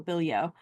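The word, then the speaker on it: Bilyeau: Well, anyway, it's um it's Nancy Bilio, um, who writes historical suspense. Um, her last name is spelled B I L Y Au, Billio. Nancy Bilio.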